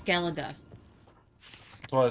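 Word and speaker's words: Skellige: It's Skeleaga.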